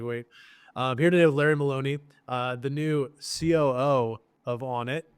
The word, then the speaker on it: Larry Maloney: So I'm here today with Larry Maloney. That's how you say it, right? Yep. Okay, cool. Exactly. I'd never said it out loud, so I was like, wait. Here today with Larry Maloney, the new COO of Onnit.